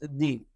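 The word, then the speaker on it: دين: all beings including themselves in the Arabic language the world for religion is pronounced de in Arabic de means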